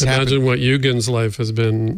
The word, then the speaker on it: Eugen: Is it Eugen the German way or Eugene? He said, Eugen's right, but I go by, I kind of give up and I take Eugene.